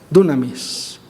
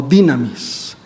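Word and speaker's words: δύναμις: llama mucho la atención poder en griego se pronuncia dunamis o dynamis de dónde viene Dinámico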